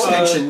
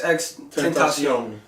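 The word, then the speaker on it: XXXTentacion: You were saying his name wrong. Extension, like, come on, bro.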